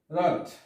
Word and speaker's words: wrought: তাহলে আমরা এখানেও জানলাম w এর উচ্চারণ হয়নি, এখানে w ওয়ার্ড বা অক্ষরের উচ্চারণ হয়নি। তারপর হচ্ছে wrought, এই wrought শব্দের অর্থ হচ্ছে গঠিত, wrought।